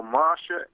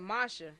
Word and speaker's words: Moshe: So Moshe and Joshua came and So who is that? presented. You said Moshe. You mean Moses? I mean to say Moses. That's how his name is pronounced in the Hebrew, but I should say